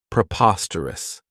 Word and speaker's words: preposterous: This adjective has four syllables, and the stress is on that second syllable, preposterous.